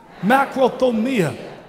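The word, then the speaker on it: μακροθυμία: Macrothumia. How do you spell it?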